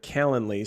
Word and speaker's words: Calendly: services out there but calendly so literally spelled like calendar but lee caland lee um it's an app